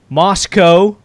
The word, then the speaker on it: Moscow: now we've got all the way up in Moscow Idaho I said it right this time yeah